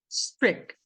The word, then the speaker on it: strict: Strict. Esse T aqui é mudo. Você só vai ouvir esse T na frase se a próxima palavra começar com vogal. Senão, você não vai ouvir, tá?